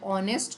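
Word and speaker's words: honest: अब इसको आप प्रोनाउंसिएशन करोगे ऑनेस्ट को। तो ये किससे प्रोनाउंस होता है? ओ से। औ से।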